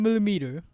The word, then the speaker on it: millimeter: on it the next one would be nine millimeter millimeter so what I can hear what kind